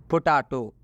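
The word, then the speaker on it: potato: पोटैटो। पोटैटो में टी का उच्चारण ट हुआ है। ध्यान से सुनिए, पोटैटो। तो पोटैटो में इस टी का उच्चारण ट से हुआ है।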